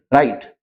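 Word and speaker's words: write: तो डब्ल्यू के बाद अगर आर आता है तो डब्ल्यू को छोड़ के उसका उच्चारण आर से करें।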